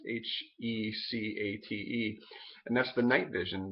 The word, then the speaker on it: Hecate: Used to be called Hecate, I believe is how it's pronounced, Hecate.